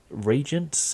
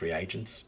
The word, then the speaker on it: reagents: Like, yeah, they could be taking all sorts of different regents. Is that the word I'm looking for? Yeah. I've heard it pronounced reagents.